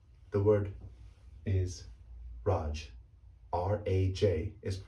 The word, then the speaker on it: Raj: with a g so that name is actually pronounced raj the word is raj r a j is correctly pronounced raj not raj now let's take it to the